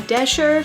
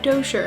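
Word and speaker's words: Doescher: The next book that I read was William Shakespeare's Star Wars, Verily a New Hope by Ian Desher, which is actually how you say his name. It's not Dosher.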